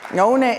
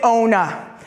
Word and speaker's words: ONA: And I pronounce it ONA, not ONA, too close to OHA.